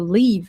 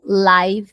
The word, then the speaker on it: live: Essa palavra tem duas pronúncias, live e live. Quando eu pronuncio live, eu digo viver ou morar. Quando eu falo live, quer dizer ao vivo, tá?